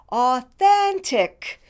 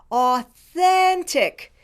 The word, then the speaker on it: authentic: throat you do it now let's do the middle syllable spelled t-h-e-n then you do it then the first syllable is spelled a you o you do it o the last syllable is spelled t i c tick you do it tick let's do all the syllables authentic you do it authentic here's another accent reduction